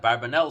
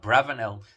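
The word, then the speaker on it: Abravanel: this particular explanation that barbanel says or bravo know the more correct um pronunciation that probably says put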